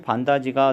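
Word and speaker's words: 반닫이: 3번 할머니의 반다지가 눈에 띄었다. 반다지. 자, 반다지도 받침이 디귿이고 이 모음이랑 만나면 지읒으로 바뀌겠죠. 그래서 발음은 반다지 이렇게 발음이 되기 때문에 이것도 국외음화 현상이 일어났다라는 걸 볼 수가 있습니다.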